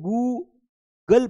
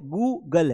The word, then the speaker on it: Google: अब कई लोग Google को क्या पढ़ते हैं? गुल पढ़ते हैं। तो वो फास्ट है। गुगल है।